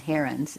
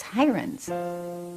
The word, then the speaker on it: Heirens: actually said you know our name really isn't herons it's hirans kennedy had concluded that lipstick